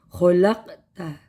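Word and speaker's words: خَلَقْتَ: Dan yang kelima, qalqalah sugro. Karena ada huruf qaf yang merupakan huruf qalqalah yang dimatikan pada pertengahan bacaan atau pertengahan kalimat. Khalaqta. Dibacanya dengan pantulan yang rendah.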